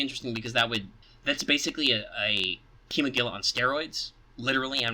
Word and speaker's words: Kimogila: guys, I mean, like, chemo's not that hard with the I, and then it's Gila, like a Gila monster.